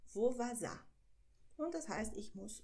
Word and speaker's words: vou vazar: Vovazá, so ausgesprochen. Vovazá.